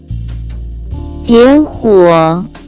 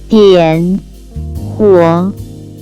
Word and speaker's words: 点火: First we have light a fire, which in Chinese can be pronounced as 点火，点火，点火。 Let's practice it again one more time. 点火， Let's explain it in detail. It has two characters. 点火， Both have different meaning.